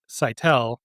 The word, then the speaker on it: Saitel: last name, which is Saitel. And I often say, you know, first I when you ask me to talk about myself, it's a sigh and then I tell you, but a little bit about me.